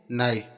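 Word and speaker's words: knife: है तो यहां पर भी इसको के का उच्चारण नहीं होगा नो पढ़ते हैं नेक्स्ट देखते हैं नाइफ यहां पर भी देखो के के बाद एन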